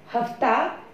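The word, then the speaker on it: hafta: तीसरा लफ्ज हमारे पास है हफ्ता, जो जुमे के बाद जिस दिन को हम कहेंगे जुमा और हफ्ता, तो दिन का नाम है। और तुर्की में हेफ्ता, मतलब ये किस प्रोनाउंसिएशन के साथ आएगा, हेफ्ता।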